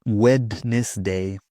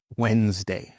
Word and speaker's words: Wednesday: In some words, we have a silent D. For example, Wednesday. We'll meet on Wednesday, not Wednesday. Nope. Wednesday. Wednesday.